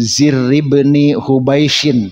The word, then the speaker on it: Zirr bin Hubaish: Wa an Zirr bin Hubaishin, bacanya itu ya.